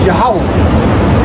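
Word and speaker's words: Yahweh: actually to look up that word Jehovah in the Hebrew is yahwah so that's how you say Jehovah in Hebrew yah yeah but quick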